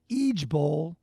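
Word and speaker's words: IJBOL: j b o l it's pronounced each bowl and it stands for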